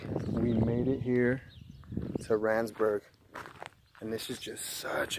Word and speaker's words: Randsburg: Yeah, Randsburg, I said it wrong before.